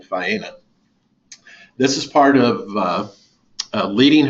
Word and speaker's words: Faena: This hotel's pronounced Faena. It is the sister resort of an Argentinian hotel by the same name, Faena.